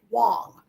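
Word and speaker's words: Huang: pronounced Wang right it's spelled Wang but it's pronounced W Wong yeah it looks like Wang but it's Miss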